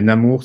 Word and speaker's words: Namur: Donc, on prononce ça Namur, mais Namur, ça me va très bien aussi.